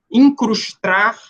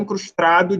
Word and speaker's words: incrustar: isso de um barbarismo na pronúncia incrustar ao invés de incrustar tem um anel incrustar de diamantes Esse é o correto mas tem gente que fala Tem um anel incrustrado de diamantes esse R aí a mais é um